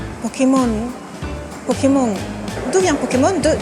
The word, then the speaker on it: Pokémon: Pokémon en caractère occidental on voit qu'il y a un e accent aigu donc ça évite de dire Pokémon ou Pokémon faut vraiment prononcer Pokémon Pokémon Pokémon d'où vient Pokémon